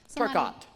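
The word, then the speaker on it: TerKeurst: Turcott.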